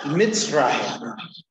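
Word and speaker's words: Mizraim: So it's pronounced Mitzrayim, which literally means the dwelling place of Ham.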